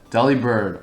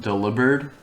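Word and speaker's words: Delibird: like how they're drawn Deli bird or well how I most recently found out Del bird which makes sense but I don't know I like Deli bird as the pronunciation but yeah I I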